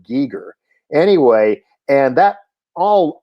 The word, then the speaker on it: Giger: paintings of h.r gieger which most people pronounced geiger but he pronounced it geeger anyway and that all